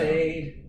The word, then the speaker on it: Mead: Made is M-E-A-D. That's how he pronounces his name.